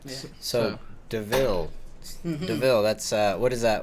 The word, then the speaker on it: De'Vil: So it's spelled like DeVille, like Corella, because a little classier like Cadillac, So it's capital D-E and then capital V-I-L, DeVille, Okay, yeah.